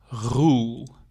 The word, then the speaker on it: Roel: And then now, the name is typical Dutch and you pronounce it like this, Roel. So you have to make the R rolling, Roel.